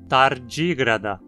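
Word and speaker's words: Tardigrada: Todos os três próximos filos também possuem uma vogal curta na penúltima sílaba, então a pronúncia precisa ser com acento na antepenúltima. Tardígrada, acantocéfala, quetógnata.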